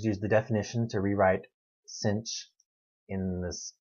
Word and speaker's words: sinh: and doesn't that look familiar it's written above me as cinch or the hyperbolic sine so the derivative of